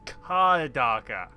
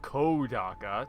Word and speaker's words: Kadaka: like a riddle um it was it was kadaka not kodaka stupid yeah sure man that's